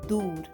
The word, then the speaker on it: दूर: Far is दूर, so the pronunciation of D is the same as the THE, दूर.